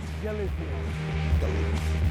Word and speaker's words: Galicia: This is Galithia. Excuse me. Galithia Galissia.